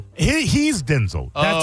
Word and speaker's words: Denzel: Oh, he he's Denzel. That's how you pronounce it.